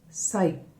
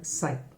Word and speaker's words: psi: Wave function, it is expressed by psi, psi, p is silent there, the symbol is like this, it is called psi.